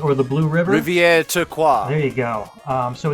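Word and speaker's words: Rivière Turquoise: probably will with my bad French but it's pronounced Rivier turquaz or the Blue River Rivier toqua there you go um so it's the poisoned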